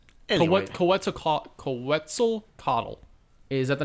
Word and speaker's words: Quetzalcoatl: I really can't comment, but the point being, you gotta act like you're saying pretzel, so it's Quetzalcoatl.